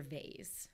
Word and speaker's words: vase: i will go with voz but i grew up with voz but then i became an adult and like went for vase so okay so right